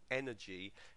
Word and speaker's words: energy: And the stress falls on the first syllable there, energy, energetic.